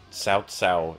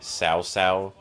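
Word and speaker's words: Cao Cao: the voice actor struggled almost everybody manages to pronounce sal's name properly it's hard especially if you only speak english south south is kind of hard to say sometimes the voice actors goof up and say sao sao instead uh and most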